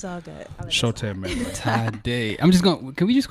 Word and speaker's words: Tadai: I told you it was Sade with a T. See, we Anyways, Tadai. Yes. So it's pronounced Tadai.